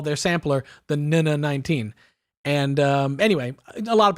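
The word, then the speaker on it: NN-19: It has a sampler, which sort of, I always have assumed that sampler, the Nina 19 there in the bottom left corner, which, by the way, is the official pronunciation, Nina 19.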